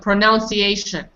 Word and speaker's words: pronunciation: What about mine? Pronunciation.